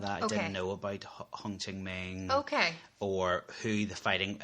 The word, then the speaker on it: Ho Chi Minh: So basically they were allied with the North Vietnam and the troops of Ho Chi Minh, I think. I'm pronouncing that right.